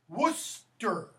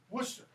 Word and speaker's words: Worcester: Worcester, not Worcestershire, okay? Worcester.